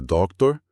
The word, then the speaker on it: doctor: A sílaba forte parece ser a primeira, doc, certo? Sim, a tônica no começo, Doctor. E de novo, atenção ao R final americano. É ele que diferencia da pronúncia brasileira de doutor, onde o R final muitas vezes some ou vira um sopro, dependendo da região. No inglês americano padrão, esse ar é dito.